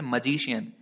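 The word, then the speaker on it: magician: इसको आप मैं से नहीं पढ़ेंगे, इसको आप पढ़ेंगे मजीशियन। ये इसका करेक्ट प्रोनाउंसिएशन है।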